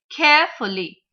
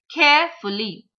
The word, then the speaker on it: carefully: So we'll again stress on the first syllable. Carefully. Carefully. It is not carefully. Carefully.